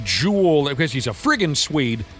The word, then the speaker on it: Joel: A lot of times with hockey players, it looks completely different than how it's pronounced. I thought it was Joel Ericson. It's not. It's Jewel because he's a frigin Swede.